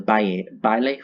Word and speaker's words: baile: My favorite Oricorio is actually the fire form, I believe it's called the baile form. I don't speak Spanish, I'm sorry. Baile, there we go. They pronounce the L and the A.